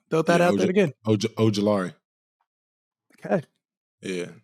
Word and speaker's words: Ojulari: Ooh, Azeez that is Ojulari. true. That is Brian true. Burns, Dexter Lawrence. I've never said Z's last name out loud. Throw that out there again. Ojulari. Okay. Yeah, Ojulari.